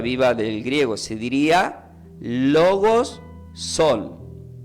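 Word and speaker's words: λόγος: la palabra viva significa se pronuncia como logos con acento en la o logos que es igual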